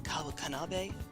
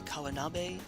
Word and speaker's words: Kawanabe: Do you remember director Kawanabe? I added an extra syllable there. Do you remember director Kawanabe of the Japanese Art Support Foundation?